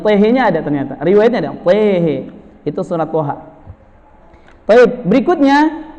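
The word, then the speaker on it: طه: Toha tidak dibaca toha, tapi tehe.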